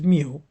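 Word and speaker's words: μ: Um it's mu pronounced as mu.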